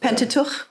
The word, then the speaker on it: Pentateuch: Pentateuch, yeah.